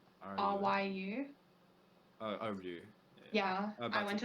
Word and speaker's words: Ryu: I don't even know how to pronounce their name. Rue, how's it spelled? RYU. Oh, Rue.